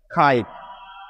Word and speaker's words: kite: যেটা আমরা বারবারই বলছি, যে কোনো শব্দের শেষে যদি থাকে তখন তার কোনো উচ্চারণ হয় না, সেইটি সাইলেন্ট হয়ে যায়, সেই জন্য কিন্তু আমরা এটিকে কেটে দিচ্ছি। সুতরাং KITE মিলে হয়ে যাচ্ছে খাইট, খাইট, খাইট মানে হচ্ছে ঘুড়ি।